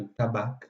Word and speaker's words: tabac: C'est le cas, par exemple, du C final de tabac, qu'on prononce comme ça, et de lac, qui par contre, on prononce encore aujourd'hui avec le C final.